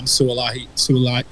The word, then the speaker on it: Sua'ali'i: just to write me a quick poem on Suaalii.